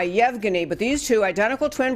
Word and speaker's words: Yevgeny: difficult name to pronounce I believe it is Yevgeny it's ye VG and why Yevgeny but these two identical